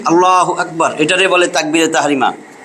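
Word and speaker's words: اللهُ أَكْبَر: শুরু আল্লাহ আল্লাহ আল্লাহু আকবার আল্লাহু আকবার আল্লাহু আকবার এই রটা মোটা হবে আল্লাহু আকবার পড়াইছিলাম না পর করা মোটা কইরা পড়া র্যা এর ডাইনে যদি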